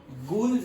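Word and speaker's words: guls: built diversion channels like गुल्स and calls और इसे generally pronounce करते हैं गर्ल्स and calls okay so गर्ल्स एंड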